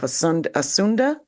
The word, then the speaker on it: Asunda: He's the founder of Stranger Comics and the creator of the world of Asunda. Did I say it correctly?